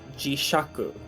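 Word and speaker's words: 磁石: that is useful is Jishaku, which is magnet. So I'm gonna Oh. put that bad boy in. Oh, of course you pronounce that shaku. Of course. Because it makes no Oh yes, sense.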